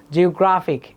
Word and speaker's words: geographic: So words ending in IC, ik, shun often have stress on the syllable before. এটাকে বলা হচ্ছে penultimate মানে হচ্ছে শেষের আগেরটা সেকেন্ড লাস্ট। যেমন IC, ik, geographic, National Geographic, in fact.